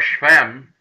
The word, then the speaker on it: Shechem: Following Abimelech's war against the town of Shechem here, or Shechem, as it's properly pronounced, and his war against